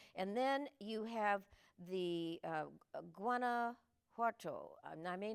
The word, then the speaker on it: Guanajuato: And then you have the Guanajuato. I may not be pronouncing that That's right, correctly. Guanajuato.